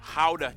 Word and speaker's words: Gouda: Bro, we've never, even the Food Network Howda. mispronounces that cheese name in America. Howda. Howda. The G is guttural.